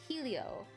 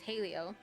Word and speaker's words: Helio: And then helio, which, not helio, it's halio. So I'll see if I can remember that that's how you're really supposed to pronounce it.